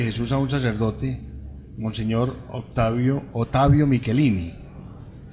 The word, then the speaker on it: Ottavio: a un sacerdote, Monseñor Ottavio Michelini. Se escribe no Octavio sino Ottavio, es italiano, que tiene pues el obispo de Mazatlán.